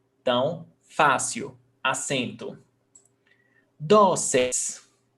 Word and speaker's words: dóceis: Dóceis, paroxítona, 2 syllables, the stressed syllable before last, dóceis, termina em eis, pé, accent mark.